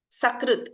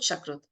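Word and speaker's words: सकृत्: But if you replace sa with sha, it will become a part, piece or fragment. Sakrit, sa is there. Sakrit means at once. Whereas if you pronounce this incorrectly as sha, it will become cowdung. Sakrut, shakrut.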